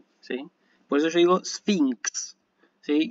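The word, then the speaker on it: σφίγξ: Siempre, o sea que gamma xi, acá tienen gamma xi, que se pronuncia NX, ¿sí? Por eso yo digo sphinx, ¿sí?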